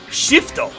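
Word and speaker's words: シフト: And actually, to say it like him, shifto.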